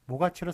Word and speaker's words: 모가치: 그래서 모가치는 원래 발음이 모가치로 사람들이 발음을 하니까, 예, 몫에서 왔다는 생각을 잘 못하니까 그냥, 예, 발음대로 모가치로 그렇게 적어주는 것을 볼 수 있고,